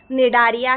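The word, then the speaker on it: Cnidaria: सी silent है यहां पर निडारिया कहा जाता है।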